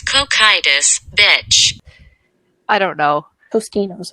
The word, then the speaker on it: Cocytus: How do you pronounce it? It's like Cocytus. Cocytus? It's Cocytus, bitch.